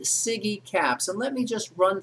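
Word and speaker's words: SIGECAPS: your mind it's when we pronounce it siggy caps and let me just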